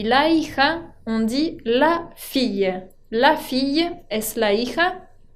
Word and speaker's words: fille: hija, on dit la fille. La fille es la hija. Fíjense que acá tiene una doble L, un double L, que se pronuncia ye.